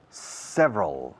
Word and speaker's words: several: There are several. Several es 3 sílabas oficialmente, pero 2 cuando hablamos.